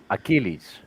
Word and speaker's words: Achilleas: yes made it this is my name is pronounced Achilles Achilles a yeah Achilles yeah okay just help